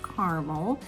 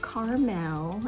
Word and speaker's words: Carmel: And by the way, yes, it is pronounced Carmel, not Carmel, as it is on the West Coast.